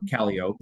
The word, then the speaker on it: Calliope: the Big Sioux, Calliope, or Calliope is how it's pronounced, which is now near Hayward.